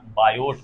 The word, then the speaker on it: Biot: NCERT में sorry NC इसकी जो स्पेलिंग होती है बायोट सेवट है बायोट उसम टी होता है सीबीएस में बोलो तो थोड़ा सा बायोट भी बोलो बायो सेवट के नियम